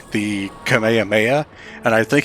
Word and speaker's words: Kamehameha: Dragon Ball mispronouncing the Kamehameha and I think he pronounced it as Kama yamama or something like that laughs but I think